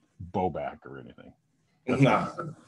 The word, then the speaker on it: Bobak: said bow back and in the media guide it says bow back like emphasis on the back so can you pronounce your name for us yeah uh it's boback uh you know the